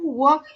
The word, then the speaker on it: walk: need to pronounce walk. Don't say L. Walk.